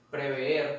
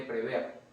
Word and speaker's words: prever: Preve en lugar de prever lo colocan con doble e, o sea, la pronunciación es más larga, pero eso está mal. Se dice prever.